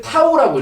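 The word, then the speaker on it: τ: 자, 얘는 이제 나타내는 거는 이제 얘 얘 자,이 문자를 타우라고 읽어요. 타우. 어, 타우라고 읽고.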